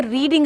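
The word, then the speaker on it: read: played से बनेगा जैसे रीडिंग आया ना तो being रेड आर ई ए D third form होती है बोलने में रेड बोला जाता है स्पेलिंग सेम रहता है बीइंग रेड बनेगा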